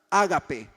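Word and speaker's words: agape: un término griego llamado o bueno se pronuncia ágape ágape es la traducción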